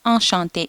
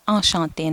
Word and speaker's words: enchanté: நீங்கள் ஒரு masculine இருந்தாலும் இல்லாட்டி ஒரு feminine இருந்தாலும் சேம் திங் தான், enchanté, சேம் ப்ரொனவுன்சியேஷன், ஒரே உச்சரிப்பு தான். ஸோ enchantéன்னு தான் சொல்லணும்.